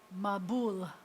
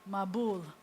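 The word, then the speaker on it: מבול: You'll find that in Yiddish, in Ashkenazic pronunciation, the accent often shifts to the front of the word, to the beginning syllable. And I told you already, in modern pronunciation, most often the accent's at the end of the word. So in modern Hebrew, you would say mabul. But in Ashkenazi, you say a mabul. It was a mabul.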